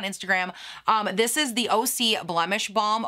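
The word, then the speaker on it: OSEA: um this is the oc blemish balm oh see it's o s e a o c one of you sent me a dm and said that's probably how you say it i don't know but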